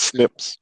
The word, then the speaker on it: SNPs: moment about how's valid small snps which we pronounce snips are you know people